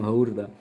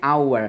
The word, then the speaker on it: hour: aja seperti apa ya Hour Hour itu kan jam haur bacanya our hanya kemana hilang gitu seperti courd itu